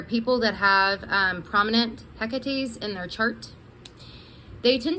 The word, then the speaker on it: Hecate: or in my mind i want to say hakate because it rhymes with takate and i'm here in texas um but i think it is actually hecate um we're gonna talk